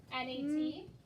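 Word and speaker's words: gnat: N-A-T. Okay. I'll take that one. Even though we're going to learn soon that the little bug Nat has a silent G in front of it.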